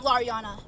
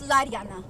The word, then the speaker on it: Lodi: was meant to have my name isn't loriana it's Lodi and I am happy